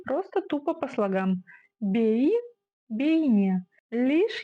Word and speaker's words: бейне: слогам Бей бейне лишь есть один нюанс в казахском языке как пишется так и читается и ни одна буква не искажается то есть если написана буква е значит читается буква е и никаких гвоздей вот так то есть не бейне бини а именно бей не Вот такие дела Да